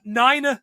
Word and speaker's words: niner: i watched it at niner the pronunciation of the number nine in the nato phonetic alphabet excellent i i just